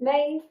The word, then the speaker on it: Maeve: My name is Maeve. That's pronounced like Dave with an M.